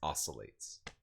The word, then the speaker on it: oscillates: uh oh wait oscillates you don't pronounce the C it's oscillates like when a fan oscillates well I have a